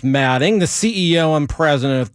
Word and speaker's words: Alfombra: We found out his name is pronounced Matting.